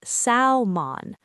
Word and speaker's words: salmon: People often say salmon, but the correct pronunciation is salmon. No L sound at all.